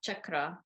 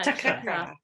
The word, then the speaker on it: chakra: mispronunciation of the word chakra, it's not anything else. It's called chakra with a cha sound, almost like Charlie. Chakra, correct. Yeah, chakra.